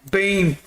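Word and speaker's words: Biehn: Bine is amazing Terminator like a bean homie that how we say his name bean bean built like a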